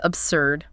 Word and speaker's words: absurd: Number three is absurd. Absurd. Absurd. Stress on the s means illogical, unreasonable, almost ridiculous, maybe even annoying.